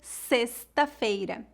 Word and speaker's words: sexta-feira: na palavra xícara terceiro o x pode ser pronunciado como S como na palavra sexta-feira e quarto o x pode